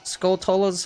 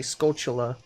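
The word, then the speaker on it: Skulltula: all the skull cellists skull tolas however you pronounce it I as a kid I pronounced it skull Tola but I think it's supposed to be skull Chula well what do I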